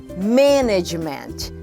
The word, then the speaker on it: management: significa professora vamos lá a palavra manejo em português olha todas as sílabas tem entonação forte manejo em inglês manejo nós fizemos management management mas olha só só um mês que tem entonação mais forte medimat ok inglês a